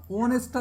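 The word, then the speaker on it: honest: আপনি ব্যতিক্রম পড়বেন কেন কেন অনেস্টটা দেখেন তো ও এর মত উচ্চারণ আসে কিনা আসে কি এইযে এই সাউন্ডটা কি আসছে অনেস্টে এই সাউন্ডটা আসছে এর আগে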